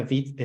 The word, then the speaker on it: Vite: De hecho, Vite se escribe Vite, pero se pronuncia Vite. Es una palabra francesa para rápido y realmente es rápido.